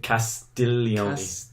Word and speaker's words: Castiglione: I think Castiglione, I think like that? is how it's said.